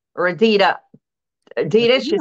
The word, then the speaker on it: Adidas: they were some classic Adidas Reebok I mean Adida Classic Shell Toes is it Adidas or am I am I pronouncing it right wrong or Adida Adidas she said right yeah Adidas yeah people yeah